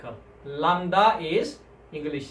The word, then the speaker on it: lambda: Lambda. Lambda, lambda. Lambda is another consonant, and then the pronunciation is L sound. For example, like a light, light.